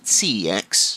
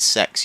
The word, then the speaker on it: CEX: local CEX, and yes, it is CEX. It's a hard C. Stop calling it sex, you weirdos.